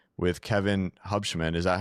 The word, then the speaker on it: Hubschmann: This week we're bringing you a unique one I would say with Kevin Hubshman. Is that how you pronounce it?